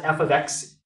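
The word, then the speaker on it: f(x): a problem and you're confused because it has f of X that's how you pronounce it if you see f of X and you don't like it you can go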